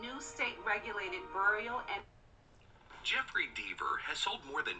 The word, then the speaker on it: Deaver: I'm gonna Deaver. Which one is it now? Rhymes with beaver. Deaver.